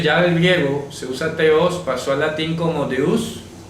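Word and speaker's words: θεός: Teos, que se pronuncia con TH, teos.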